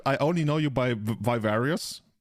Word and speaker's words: Vivarus: So my full name is, and you pronounce my screen name Vivarus. It's more of like a Latin pronunciation than anything else.